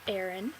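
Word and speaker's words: Aerin: I really like them my real name is Aaron and okay this is why it gets really confusing in the chat room because it's spelled a e r i n which is really close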